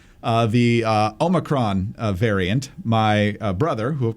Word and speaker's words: omicron: it the correct way omicron so that is the official greek pronunciation and you're supposed to roll that r and i didn't do